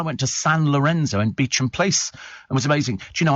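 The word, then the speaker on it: Beauchamp Place: lot but I went to San Lorenzo in beach and place it was amazing you know I could never for years pronounce beach and place I called it bon bon place until somebody said it's pronounced Beach and place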